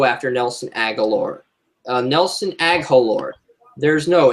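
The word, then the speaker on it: Nelson Agholor: you threw up it's Nelson aore or Nelson aalor the H is silent that's Nelson agular Matt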